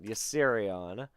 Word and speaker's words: Yserion: It's spelled YSSERION. YSSEON? No, ERION. ERION. Yserion.